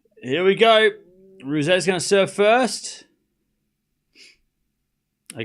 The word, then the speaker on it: Ruse: See, it's Ruse.